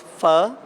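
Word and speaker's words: Phở: It's pho, and the O is silent. The correct pronunciation would be F-U-H. So it's pho.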